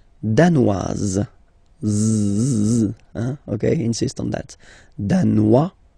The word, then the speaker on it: danoise: Le Danemark, danois, danoise. Okay, insist on that. Danois, don't pronounce the final S. Danoise, here you pronounce it.